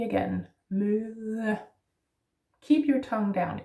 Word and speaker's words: møde: Next one is møde. Møde is also yeah, much like according to the alphabet, the sound in the alphabet. And then the soft D again, møde.